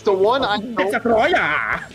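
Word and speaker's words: Destoroyah: Destroya, not Destroyer. It's Destroya. Okay. You gotta have emphasis.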